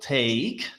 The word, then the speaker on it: take: And some students make the mistake of the pronunciation of take and talk, but they are totally different. Okay, so take, talk, take, mhm.